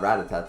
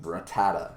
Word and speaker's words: Rattata: rattata um or ratata so many people i've heard so many pronunciations of ratatat you know rat attack and it's like it's clearly not ratatat there's not an extra a there but rattata i guess um we